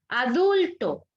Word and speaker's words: adulto: Adulto. ¿Dónde encuentro la fuerza de voz de la palabra adulto? Dul, ¿verdad? Porque es la penúltima sílaba.